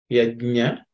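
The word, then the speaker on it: यज्ञ: So, ya, ja, nya. Yagna. So, if you can see in the English transcription, ya, iji, ja, and nya. Yagna. So, pay attention to that.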